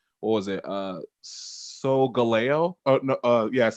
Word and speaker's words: Solgaleo: Solgaleo. Oh no, yes, it's Solgaleo.